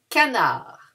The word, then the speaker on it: canard: Un canard. And here we don't pronounce the D. Canard.